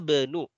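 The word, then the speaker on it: ابن: Membacanya sebetulnya yang lebih tepat adalah ana benu. Jadi nggak perlu dibaca i-nya ya. Karena di ibnu ini i-nya kasrohnya adalah kasroh tambahan.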